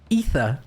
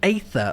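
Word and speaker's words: Aether: game and every like I kept calling it instead of saying ether I kept saying ather or something and um H hodus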